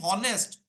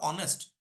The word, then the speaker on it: honest: it as the spelling if I pronounce it as the spelling from tomorrow I will start saying honest instead of honest which is absolutely wrong so how the pronunciation